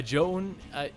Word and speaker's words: Zoun: as well as bio a joan is is a z-o-u-n that's how you that's how technically you pronounce it but i think a lot of people just pronounce it sound because it's a little bit easier to say i'm just making a